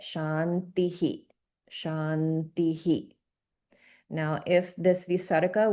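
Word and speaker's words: śāntiḥ: So this will get pronounced as shantihi. So there's an echoing of the e sound which is right before the visa and we get shantihi.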